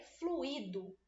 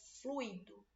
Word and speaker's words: fluido: temos a palavra fluido muita gente lê fluído Aí fica parecendo que o i tem acento é fluido Se você pronuncia errado